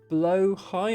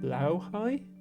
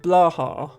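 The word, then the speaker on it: Blåhaj: I think it the real pronunciation is closer to like blowhigh, but I am merely an English speaker. But yes, I know that it's not blah or blah, which is how most people say it.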